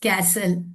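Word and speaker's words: castle: The word often, ठीक है, of, often and कैसल, स, ओके। तो इन वर्ड्स पे लेटर टी जो है वो साइलेंट होता है, ठीक।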